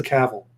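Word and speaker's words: Cavill: saw this trailer and I saw that inner Cavell was a part of it I'm like okay yeah this this is something I'm good all right since we're correcting pronunciations it's Hennessy cavil it is Kappa Kappa I'm blaming my friend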